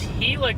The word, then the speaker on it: Gila: Oh, so it's Hila County, not not Gila County.